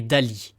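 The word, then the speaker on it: DALL-E: connue d'entre elles est Dali da2l e qui se prononce donc à l'anglaise Dali en référence au célèbre peintre surréaliste Salvador Dali cette intelligence artificielle crée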